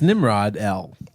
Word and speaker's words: Nimrodel: I found myself laughing quite hard when they described Nimrodel, and that there was a song of Nimrodel. Nimrodel. Nimrod-L. Okay. Wow. It's Nimrod-L.